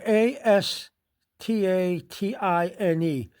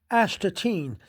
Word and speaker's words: Astatine: Capital A S T A T I N E. Astatine. Some people pronounce it astine, but it's a time.